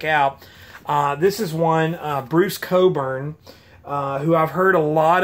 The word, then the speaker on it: Cockburn: Because I know it's spelled Cockburn, but I've always heard Cockburn is how you pronounce it. Bruce Cockburn.